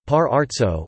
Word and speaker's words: Parrozzo: Parrozzo, Italian pronunciation, Parrozzo or Panrazzo, is a traditional cake from the region of Abruzzo, in Italy.